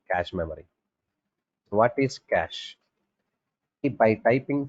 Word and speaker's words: cache: memory so what is cash if by typing c a c h e we have to type but you have to pronounce it c a s h okay you have to